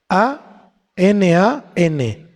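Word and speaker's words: ענן: sí la palabra Niebla es en el hebreo aná aná con acento en la segunda a y quiere decir niebla espesa nube nublado anan a n a n anan y esto nos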